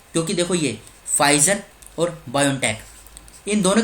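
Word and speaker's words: Pfizer: बात चल रही है फाइजर कहा कि है देखो पिज़्ज़ा पिज़्ज़ा इसमें साइलेंट है पीछे वेयर इज इट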